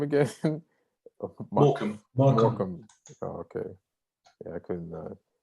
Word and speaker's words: Morecambe: Morecambe. Oh, okay. Yeah, I couldn't. Some of there's 2 silent letters in Morecambe. It seems like. Like I'm looking at it's more. Yeah, more Camby. So the B's silent.